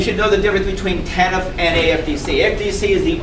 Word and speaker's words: TANF: The current system is called Temporary Assistance to Needy Family, the abbreviation of which is TANF, usually pronounced TANF.